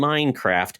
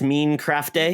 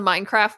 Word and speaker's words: Minecraft: It's not pronounced Mean Craft Day? No, exactly. No French accent in there. So yeah, I was a latecomer to the Minecraft world.